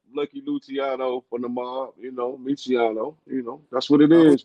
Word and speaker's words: Mecheon: So it's Michiano, man. Michiano, like Lucky Luciano from the mob, Michiano.